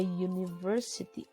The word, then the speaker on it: university: A university gitu. Kenapa enggak an university nih? The U at the beginning of university sounds like you gitu, seperti you karena y